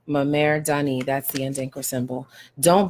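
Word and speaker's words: Mmere Dane: And this is pronounced Memer Dani. Memer Dani.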